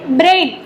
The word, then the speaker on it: Braille: Means उसका नाम है ब्रेल. ब्रेली ई लिखा है लेकिन ई is silent here. ब्रेल, you have to से ब्रेल.